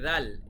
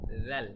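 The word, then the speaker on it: ذال: উচ্চারণটি হয় তারপরে রয়েছে জাল এটা কিন্তু বাংলায় নেই এটা শুধুমাত্র আরবিতেই স্বতন্ত্র জাল খুব পাতলা একটা উচ্চারণ হবে জাল তারপরে হচ্ছে র র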